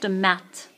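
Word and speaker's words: maths: the example is in math class so for example what goes on the line is the subject mat mat don't pronounce the S on mat English class history class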